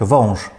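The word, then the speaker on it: wąż: Вонж, там ши чуємо.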